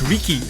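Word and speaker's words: Riky: Ricky spelled with R-I-K-Y. It's Ricky.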